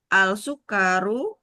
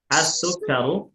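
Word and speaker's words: السكر: A alsukar alsukkaru hulwun. Baik. Pemilihan kosakatanya sudah betul. Namun pelafalannya apakah dibacanya al atau as? Asah. Asukaru hulwun.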